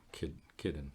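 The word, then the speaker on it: Kiden: in the school that Kindon was going to. Am I saying it right? Kidden. Kidden. K-I-D-E-N. Kidden. Okay, we'll call it Kidden.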